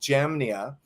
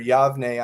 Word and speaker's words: Jamnia: Tel Aviv today at a place called Jamnia, is how you say it, or Yavne, I think, is another way you say it in Hebrew.